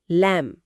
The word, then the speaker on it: lamb: ध्यान दें, उच्चारण में बी साइलेंट है, लैम्ब।